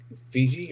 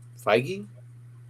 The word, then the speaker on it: Feige: But I think I think Fiji or what, I don't know how to pronounce his name. Feige.